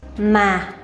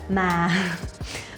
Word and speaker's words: mà: Ma. Ma. Ma. No, it's not like that. Ma.